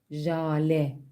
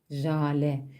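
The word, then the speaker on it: ژاله: başında küçük harf ve bu kelime H harfiyle bitiyor Ne yapıyorduk bu durumda H harfini telaffuz etmiyoruz H harfinden önceki harfin altında e sesi ekliyoruz ve bu şekilde telaffuz ediyoruz Jale Jale telaffuzda H sesini duymuyorsunuz Jale telaffuz burada e sesinde bitiyor Selam hoşin birinci kelimemiz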